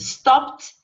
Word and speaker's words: stopped: Just stopped. You don't elongate the O.